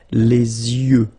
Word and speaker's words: yeux: Okay, you make this liaison between the two. Les yeux. Okay, final X not pronounced.